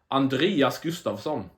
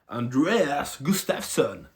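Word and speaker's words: Andreas Gustafsson: Chaos Williams versus Andreas Gustafson or as you Americans say, Andreas Gustafson Sweden represent.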